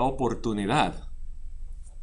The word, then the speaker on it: oportunidad: You hear how in English we've got two different sounds going with the O in this one word? But it's just o, po, oportunidad.